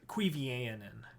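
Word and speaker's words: Cuiviénen: The pronunciation of that always gets me. Cuivianen.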